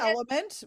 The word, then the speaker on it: LMNT: audition uh rejects so it's actually called element but it's spelled l mnt 2003.